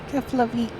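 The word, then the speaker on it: Keflavík: Keflavik.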